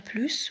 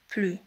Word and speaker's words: plus: Plus هناك فرق بين plus و plus. plus عندما ننطق الأس يعني إضافة زائد.